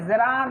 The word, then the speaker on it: gerund: হচ্ছে এটাকে অনেকে বলে জিরান্ড। হ্যাঁ, অনেকে কি বলে? এটাকে অনেকে বলে জিরান্ড, জিরান্ড এভাবে আমি বাংলা লিখে দিয়েছি, কিন্তু না, এটা সঠিক নয়। এটা সঠিক উচ্চারণ হচ্ছে জেরান্ড।